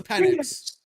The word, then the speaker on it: Penix: It's just the way you pronounce it is all. Today we're going to be Penix. talking about It's Penix.